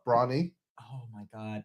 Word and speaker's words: Bronny: Yeah, like LeBron, Bronny. Oh my god. Like My Little Pony fans. Yeah, Bronny. That's an unfortunate name. Anyway. That's what everyone calls him, Bronny. Bronny. Because he's tiny. Tiny Bronny.